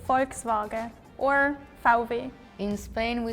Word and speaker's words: Volkswagen: forks no we don't Volkswagen yeah the K and S is kind of missing yeah because I'm from the canari islands we usually miss the s's for example to say thank you we say Gracia but in the main is graas and the V kind of becomes almost like a b sound right yeah V